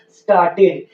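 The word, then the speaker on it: started: अगर word टीईडी या डीईडी से समाप्त होता है तो हम यहाँ पे ई का उच्चारण करेंगे, यानी यहाँ साइलेंट नहीं रहेगा।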